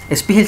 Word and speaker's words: Spiegel: Spiegel se escribe S-P-I-E-G-E-L, Spiegel.